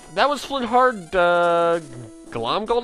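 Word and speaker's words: Glomgold: was flynn hard uh glom gold i think is how you pronounce his last name flint's heart is another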